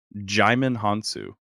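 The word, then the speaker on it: Djimon Hounsou: Google according to Google the way to pronounce his name is jimin hansu okay chime in Hong Kong I was like normally the did the DJ just makes a j sound like Jenga you know and something like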